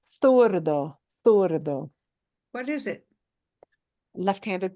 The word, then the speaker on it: zurdo: And I think does he pronounce it zurdo? Because he's from the south. So I think he does say it as zurdo. In the south of Spain, they would say zurdo.